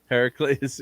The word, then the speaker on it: Heracles: say how to say his right name heracles heracles yeah but hercules was not in the movie